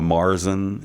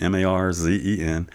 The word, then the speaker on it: Märzen: We call a lot of times in America a Marzen, Marzen.